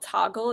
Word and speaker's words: Toggl: or a week using an app called Toggle. It's spelled Toggl.